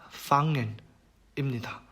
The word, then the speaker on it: fangen: 이거는 이제 이응 발음과 비슷하다고 보시면 되는데요. 한번 들어보세요. 예시로 나온 단어가 fangen입니다.